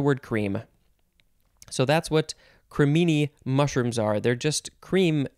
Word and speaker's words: cremini: next word is cremini i guess that's how you say it cremini uh i would probably want to say criminy but no it's cremini i c-r-e-m-i-n i or